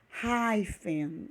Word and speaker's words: hyphen: Fica bem parecida com a nossa grafia, com a nossa escrita, porém a pronúncia é bem diferente.